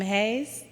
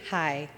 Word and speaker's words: hej: So, anybody know how to pronounce the first word? Hey? I heard some hays. It's actually hi. It's hi in Danish.